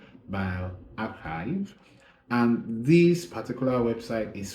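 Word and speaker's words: bioRxiv: is bio archives so it's spelled b-i-o-r-x-i-v or it's pronounced by archive and this particular website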